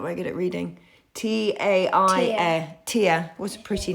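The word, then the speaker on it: Taia: Tia.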